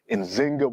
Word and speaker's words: Nzinga: Sometimes you'll see her name spelled as Nzinga with a Z, but modern scholarship has shown the more correct way to pronounce her name and in Kimbundu, the language that she spoke is with the J. So it's Njinga, and Bandi, but you'll also see Nzinga.